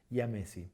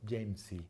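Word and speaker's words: jamesi: término de más moderno, la pronunciamos como I. Por ejemplo, la Platalea ayaya o por ejemplo, el Phoenicoparrus yamesi. Sí, sabemos que viene de James, pero no decimos Jamesy o ni nada por el estilo, es yamesi.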